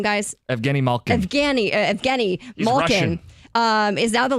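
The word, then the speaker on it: Evgeni Malkin: Evgeny Malkin.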